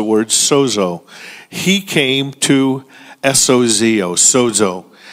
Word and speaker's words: sozo: He came to S-O-Z-O, sozo. It's pronounced with a D.